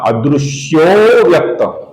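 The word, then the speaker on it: अदृश्योऽव्यक्त: आपको याद रहेगा हमने पिछले कुछ श्लोकों में ये चिन्ह देखा हुआ है और इसका उच्चारण हम हल्का सा लंबाई के साथ करते हैं, अर्थात इसका उच्चारण होगा अदृश्यो व्यक्त।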